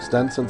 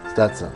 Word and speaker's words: Stetson: All Texas made, like Stenson? Someone said, am I saying it right, Stenson? No, that's getting up in the high cotton. Yeah, but maybe I want to be in low cotton. Stetson.